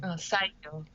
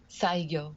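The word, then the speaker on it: Saigyō: Can you help me on the pronunciation of this ancient writer? His name? Saigyo, Saigyo, Saiyo.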